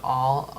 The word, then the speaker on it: al: I'm not going to read all that, but basically it'll give you all a little hint here on each one of these exercises. So al equals to the, so that's pronounced all.